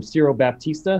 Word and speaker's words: Ciro Baptista: It's Ciro Baptista, who's a Brazilian percussionist, and Baba Mal, who's an African performer.